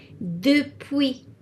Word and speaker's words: depuis: And then the other one that is similar to it, depuis. Depuis. So the S is silent.